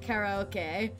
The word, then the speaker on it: karaoke: the one and only they could pronounce karaoke right in the Japanese way how are they said it Cara okay but they can't say